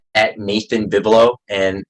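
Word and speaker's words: Vivelo: It's at Nathan Bibelo, and it's pretty much just my full name. And Bibelo is spelled as V as in Victor, I as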